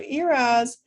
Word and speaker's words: ERAS: have heard of eras so eras is spelled e-r-a-s like sam and it stands for